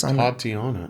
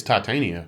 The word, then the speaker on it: Titania: Tatiana. No, man. You're adding an extra I. Oh. It's Titania. Titania.